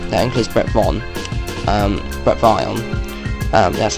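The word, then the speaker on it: Bret Vyon: this story um that includes Brett vaugh um Brett Von um that's how you pronounce it um also this is released um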